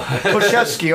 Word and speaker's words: Koszewski: Koszewski, okay. Kind of more like Coach K from how his name's on, but it's Koszewski, but you wouldn't know it by spelling.